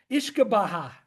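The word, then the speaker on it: uisce beatha: It's hard to pronounce. Ishkabaha, which translates to the water of life.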